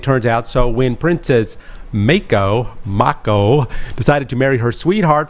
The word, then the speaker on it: Mako: We read it as Mako. Mako? But if you are like you, Mako. Mako? If you have a southern United States draw, it is Mako.